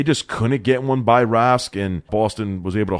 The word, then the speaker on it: Rask: Rask, however you want to pronounce his name. I always like to say Rask, the European way.